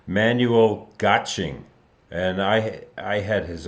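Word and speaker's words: Manuel Göttsching: or Manuel excuse me his name is pronounced man having trouble tonight Manuel gotching and I I had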